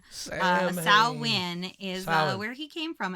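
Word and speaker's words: Samhain: for Halloween is is spelled s a m h a i n so Sam Sam Hayne Sam sa win is where he came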